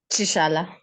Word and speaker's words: Chishala: yeah please what's the what's the right pronunciation chishala chishala oh great go on